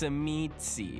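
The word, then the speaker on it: Tzimisce: He called them chemise, which is what I call them. But some people are like, no, it's semitsi. And I'm like, I'm pretty sure it's chemise. No matter what the creator says, I'm pretty sure the pronunciation is chemise.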